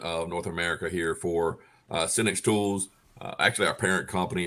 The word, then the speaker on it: Senix: Is it Senix? Yes. Okay. I don't know if there was some kind of weird pronunciation, but we have the fellas here from Senix Tools.